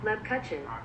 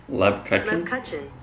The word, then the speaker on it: Lebkuchen: Lebkuchen. That's what Google says. Lebkuchen.